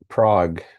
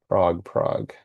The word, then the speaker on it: Prague: Prague, Prague. Now, how am I going to remember that? Prague rhymes with dog.